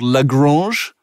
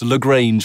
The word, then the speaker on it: Lagrange: called ursa dsp called lagrange and it's uh i'm kind of pronouncing it french but it looks how it should be pronounced lagrange whatever you want to